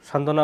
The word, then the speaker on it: সান্ত্বনা: এরপর 5 নম্বর নিয়ম, যুক্ত ব্যঞ্জনের সঙ্গে বফলা যুক্ত হলে ব এর উচ্চারণ হয় না।